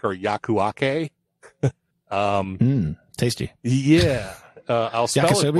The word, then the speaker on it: Yakuake: pop-down terminal called and i i'm going to pronounce this wrong i know it it's either yaw quake or yakuake um tasty yeah uh also it's y-a-k-u-a-k-e